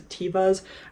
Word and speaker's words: Teva: Also in the old rotation, I pulled out these Tevas. I think it's actually technically pronounced Teva, but my entire life I've said Teva, and Teva sounds stupid to me.